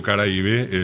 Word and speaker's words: Caraíbe: El guaraní tuvo su zona de influencia desde el Caribe, al punto de Caribe o Caraíbe, es la palabra guaraní correctamente Ok. pronunciada.